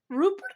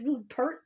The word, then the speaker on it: Rupert: I don't pronounce the T, which is odd because Rupert is the French version of Robert. You'd think, and you notice I'm pronouncing Robert, I pronounce the T, but not.